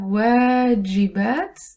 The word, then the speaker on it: واجبات: We have واجبات. The moment you don't pronounce the alif, you end up saying meals. One long vowel can change homework to a meal.